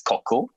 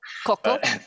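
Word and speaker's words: Cochl: yeah, actually, our company name pronounced as Koku. Koku.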